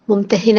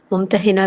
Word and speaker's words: ممتحنہ: سے اس کا نام ممتحنہ رکھا گیا۔ اس کا تلفظ ممتحنہ بھی اور ممتحنہ بھی، یعنی وہ عورت جس کا امتحان لیا جائے اور امتحان لینے والی سورہ۔ یہ سورہ صلح حدیبیہ